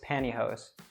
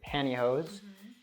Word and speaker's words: pantyhose: Yeah, so the pronunciation there is even different because I would say that in T, I would drop the T, so I say pantyhose, but you say the T.